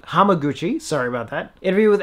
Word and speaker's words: Hamaguchi: between the director kiyoshi kurosawa and filmmaker ryusuke yamaguchi hamaguchi sorry about that interview with actors masado hagiwara